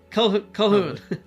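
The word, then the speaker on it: Colqhoun: he shows up just say call hoon calhoun yeah he shows up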